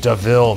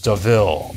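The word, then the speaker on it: De Vil: the a devil and then jasper says it's pronounced devil mate and corel says deville i like it and i i actually said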